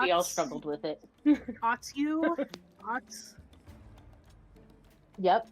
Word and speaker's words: Otyugh: And instead of trying to fight this giant, how do you pronounce this? I think we all struggled with it. Otyugh? Yep. Otyugh mutate.